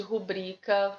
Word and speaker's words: rubrica: Lembra que eu falei de rubrica? Repetir esses nomes. Rubrica, viu, gente? As pessoas ficam em dúvida em relação à pronúncia.